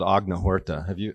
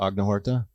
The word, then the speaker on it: Agnihotra: And so I was really studying this process called Agnihotra. Are you familiar with Agnihotra? Agnihotra.